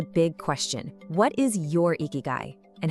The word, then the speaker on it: ikigai: It's pronounced eeky guy.